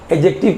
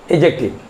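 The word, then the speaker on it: adjective: एडजेक्टिव में हम क्या करते हैं, एडजेक्टिव बोलने से हम डी को साइलेंट कर देते हैं, एडजेक्टिव कहते हैं। डी क्या होता है, साइलेंट हो जाता है, एडजेक्टिव।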